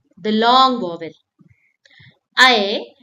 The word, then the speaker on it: ऐ: I, it sounds like A in bat or cat. And you have to open your mouth wide.